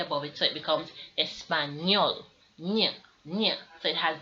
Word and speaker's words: español: the near sound near so when we're saying espanol we don't say español like a regular n it has a tilde above it so it becomes espanol yeah yeah so it has that near strong